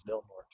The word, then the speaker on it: Del Norte: I know it's spelled Del Norte, but apparently it's Del Norte.